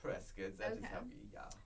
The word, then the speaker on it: Prescott: Prescott yeah uh or do you pronounce it Prescott Prescott yeah it's pronounced president guys so you basically